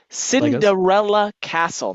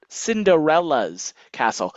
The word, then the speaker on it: Cinderella Castle: Okay, just like with Legos, it's pronounced Cinderella Castle, not Cinderella's Castle. Think of Lego and Legos. Same principle, but with the castle.